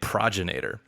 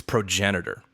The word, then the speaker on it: progenitor: frequently uses it however it does not rhyme with Terminator it instead rhymes with Senator progenitor progenitor all right